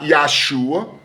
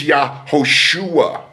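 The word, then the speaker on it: Yahoshua: It's not Yesua, it's Yahosua, ladies and it's not Yesua, it's Yahosua.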